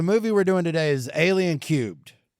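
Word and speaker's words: Alien³: So the movie we're doing today is Alien Cubed. And is that how you say it? It's Alien 3, sure. Alien Cubed. I mean, to the third power.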